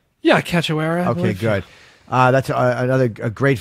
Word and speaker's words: Cachoeira: Cachoeira? Yeah, Cachoeira.